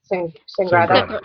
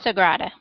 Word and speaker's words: Sagrada: However, I think I'm going to choose, I don't want to mispronounce, Sangrada. Sagrada. Not Sangria. No. Not Sangria. Okay.